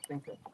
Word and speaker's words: Senko: And for anybody but Pennsylvanians, he means a Senko. Yeah, Senko. Senko. Because it's spelled Senco, which is Senko. Sanko would be Sanko.